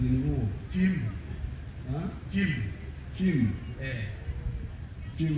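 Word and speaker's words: cim: Chim, how do you pronounce spell?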